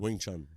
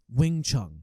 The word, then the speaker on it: Wing Chun: Wing Chun, yeah. Wing Chun.